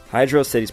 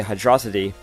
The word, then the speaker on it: Hydrocity: dropped and has been called amy ever since hydro city's pronunciation it's been a debate among fans to how to pronounce the name hydro city i used to say hydrosity but it is in fact hydrocity zone two